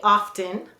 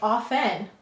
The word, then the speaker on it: often: of you might say off n and you might have that t is silent if you don't pronounce the t sound you could double underline it to say that it's a silent t and then you'd say